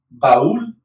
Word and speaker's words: baúl: So, hola, cuando, agua, qué, construir, quieres, preguntar, baúl. Right, so here's that. Ba, two vowels, accented is the second, so baúl, baúl, baúl, árbol.